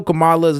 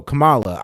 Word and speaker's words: Kamala: it with their accent so you could tell kamala's name is kind of Indian CA Kamala I godamn near hit my have my tongue hit the roof it's like bro Camala I'm an American so I'm going to pronounce